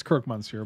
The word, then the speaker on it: croque monsieur: but he's right that does sound good nah croc monsieur that's a really fancy grilled cheese those are banging i probably mispronounced it terribly yeah it's kirk montz here but you're close enough well there's also another